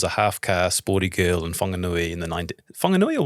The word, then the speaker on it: Whanganui: Whanganui, the iwi in Whanganui, it was always H. There's always an H in it, but they pronounce it with a soft H. So the iwi in Whanganui say Whanganui. Whanganui. Not Whanganui. Okay. Which is the harder H from the northern parts of the country.